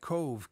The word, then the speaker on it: Cobh: bad guy sometimes and Owen cove by the way it's spelled cobh and of course in